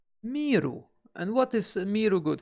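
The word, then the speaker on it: 見る: And it's actually quite easy to remember it again, because it's pronounced miru.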